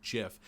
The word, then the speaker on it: GIF: rooted entirely in pedantry the majority of people call it gif and then the internet started circulating news that the owner said it's supposed to be pronounced jiff and then [ __